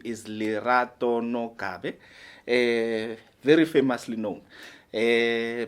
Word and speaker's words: Lerato Nogabe: will be hosting here uh her name is lerato no kabe a very famously known uh Miss lerato welcome